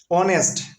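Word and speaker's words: honest: এন বসবে an hour an hour ঠিক একইভাবে অনেস্ট অনেস্ট ম্যান অনেস্ট ম্যান ও এখানকার এস এর উচ্চারণটা কিসের মত হয় অনেস্ট ও এর মত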